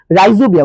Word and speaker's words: রাইজোবিয়া: এটা ভুল করে কিন্তু কেউ রাইজোবিয়াম বলো না, এটা হচ্ছে রাইজোবিয়া, উচ্চারণটা হচ্ছে রাইজোবিয়া।